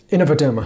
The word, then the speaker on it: InnovaDerma: from Capital Network now to talk all things Innovaderma or Innovaderma. I'm not quite sure how to pronounce it, although I did interview Kieran Callan at the beginning of the week. Ed, how do you say it? Innovaderma.